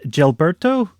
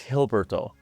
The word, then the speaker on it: Jilberto: Is it pronounced uh Gelberto? No, no, it's a good question. It's Hberto.